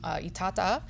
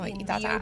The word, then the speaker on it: Itata: We have a lovely wine from Itata in, did I pronounce that right? You did. Okay. Oh, Itata.